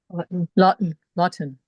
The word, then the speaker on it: Laughton: Lawton. Lawton, but it's spelled like Laughton.